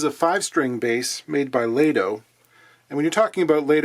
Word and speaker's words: Lado: There's some contention as to how to pronounce Lado, whether it's Lado or Lado. I believe it's officially Lado, as that's how Joe pronounces it.